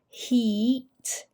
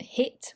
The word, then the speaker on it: heat: Now this sound here is a long E, heat. Heat is not hit, which is when you hit a ball, but heat, prickly heat.